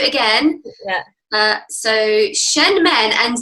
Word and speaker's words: Shen Men: So Shen Men and Nei Guan.